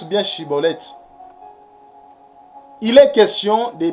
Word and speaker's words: Schibboleth: il devait être libre il est question de bien prononcer la prononciation chibolette mais non cibolette que Yoshua vous bénisse